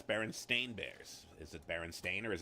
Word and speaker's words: Berenstain Bears: most of you got it wrong it's the berenstain bears it was never the berenstein bears but we always pronounced it myself i was guilty of this